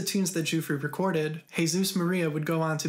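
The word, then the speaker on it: Jesús: her handwritten lyrics that the pronunciation is hey Zeus because she spelled it H a why s o OS anyways after unsuccessfully searching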